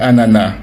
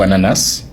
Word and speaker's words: ananas: Est-ce qu'on dit ananas ou ananas ? Et bien selon les recherches linguistiques, en France on dit ananas, au Québec on dit ananas. Historiquement au 19e siècle la seule prononciation reconnue était an mais avec le temps, c'est la graphie du mot avec son S qui a influencé la prononciation.